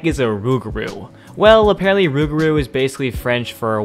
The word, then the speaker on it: Rougarou: okay just in case you're wondering how to pronounce this word it's rugru but yeah it's a name all right just one question what the heck is a Rougarou well apparently rubaru is basically French for a werewolf which I